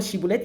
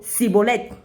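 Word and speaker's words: Schibboleth: Et les Éphraïmites ne pouvaient pas prononcer le mot Chiboleth, ils disaient plutôt Siboleth.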